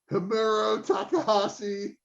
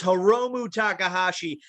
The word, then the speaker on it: Hiromu Takahashi: If Tom wasn't feeling bad enough right now, you just butchered one of his favorite wrestlers in the world. It's Hiromu Takahashi and Shingo Takagi.